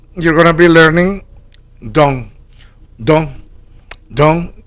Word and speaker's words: dont: So, right here, you're going to be learning dong. Dong dong spelled d o n t. Pronounce do the the n. It's like nasal. You you barely pronounce it.